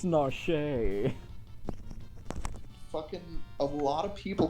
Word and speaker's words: Narshe: I mean, hey, at least you got Narsh right. How the It's Narshe.